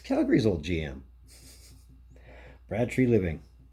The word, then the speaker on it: Treliving: be interesting let's talk about it so Brad tree living yes I'm saying it right this time comes